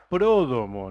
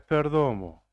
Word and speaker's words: Pródomo: Pródomo, no es Perdomo. Prodomo. Pródomo. ¿Prodomo o Prodomo? Con esdrújula, con acento en la primera O.